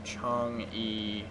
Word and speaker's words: Chang'e: quick for her video to see how you pronounce her name um even let you guys hear Smite Chong no Chong e there we go got to got to get